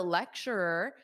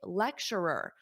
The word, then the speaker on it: lecturer: You can also say lecturer. A lecturer, perhaps a difficult pronunciation. Repeat after me. Lecturer, because you have at the end. Lecture, and then you add another Lecturer.